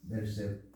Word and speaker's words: Berseba: Abías, casi se escucha como mi apellido, que nunca lo pronuncian bien. Dice, fueron jueces en Berseba.